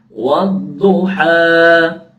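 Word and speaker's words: وَالضُّحَىٰ: Terus harus jelas, harus jahar, harus jelas dan tidak boleh berhenti di huruf hamzah. Misalkan begini. Bismillahirrahmanirrahim. Wadduha. Ya, sampai saya ulangi. Wadduha. Ha. Ya. Jadi nggak boleh membacanya berhenti di huruf di pangkal tenggorokan. Jadi kalau huruf hamzah, huruf ha, wadduha, ha-nya panjang, ha.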